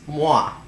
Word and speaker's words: Moi: It's moi, as in the kiss of death.